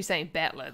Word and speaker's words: Battler: Blah blah blah is made up of the characters fight and person, and it's oh, so I should be saying battler then. Okay, and it's pronounced battler.